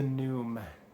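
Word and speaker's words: Pnume: Deer, and number 351, The Noom, P-N-U-M-E, and I'm assuming the P is silent.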